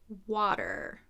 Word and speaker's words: water: get the practice paragraphs water so this is another one with a flap T so the T sounds like a soft D I write deep water